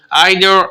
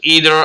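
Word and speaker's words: either: यहाँ पे जो ईदर है या आइदर है, इसका प्रोनाउंसिएशन दो तरीके से होता है। इसका तलफ़ुज़ मैंने पहले वीडियो में किसी वीडियो में बता चुका हूँ। इसको आप आइदर भी पढ़ सकते हैं, ईदर भी पढ़ सकते हैं।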